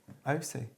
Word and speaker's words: Aoocci: Perhaps their company name is this one, but actually the way it gets pronounced, they've highlighted the O and the C. Aoocci. Anyway, yeah, let's get on before everybody falls asleep.